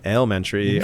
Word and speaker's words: Alementary: that I know how to say the name Elementary uh yeah right I still got it right